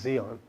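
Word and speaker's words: Di An: February 28th, 1967, I was in Vietnam, assigned to the 1st Infantry Division, Headquarters Base Camp Division Finance, at DIAN, it's pronounced Zion, Vietnam.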